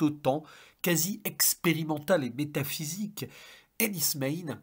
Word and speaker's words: Enys Men: quasi expérimental et métaphysique Enis main oui on prononce comme cela dans la langue locale celtique des cornoilles puceque ça se passe